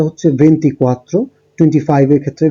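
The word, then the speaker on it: ventiquattro: 24 এর ক্ষেত্রে উচ্চারণটা হচ্ছে ভেন্টিকোয়াত্রো, 25 এর ক্ষেত্রে ভেন্টিচিনকুয়ে, 26 এর ক্ষেত্রে ভেন্টিসেই, 27 এর ক্ষেত্রে ভেন্টিসেত্তে, 28 এর ক্ষেত্রে ভেন্তত্তো, 29 এর ক্ষেত্রে ভেন্তিনোভে।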